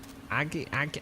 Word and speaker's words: agate: Agate? Agate? Git, not jit. Agate. So just agate. Like a git. Like you're a fucking git. Just call it a git.